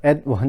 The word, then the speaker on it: atone: 것을 알 수 있습니다 즉 어 톤은 어촌 이라는 발음 보다는 애드 1 이라고 발음하는 게 더 정확할 수 있을 것 같습니다 어쨌든 어 톤은 하나가